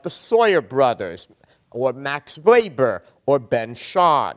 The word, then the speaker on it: Weber: Sawyer brothers or Max wber or Ben sha Max Weber he pronounced it or Ben sha and